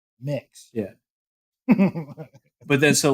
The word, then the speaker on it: Mx: I do not it's it's MX but it's pronounced mix mix yeah but then so